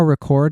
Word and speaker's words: record: you ever think about how record and record are the same word yes not but but pronounced kind of like read and red depending on whether you whether you emphasize the first or second syllable it's either the thing